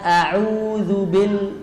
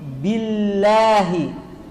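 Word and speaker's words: بالله: Adam bayani kasratil ba banyak orang membacanya dengan auzubil Bil kasrahnya kurang sempurna B harusnya dibaca bi Billahi atau bnya seperti huruf P auzubillah Billah tidak kuat dibaca Billahi cobaillahi fadalillahi kemudian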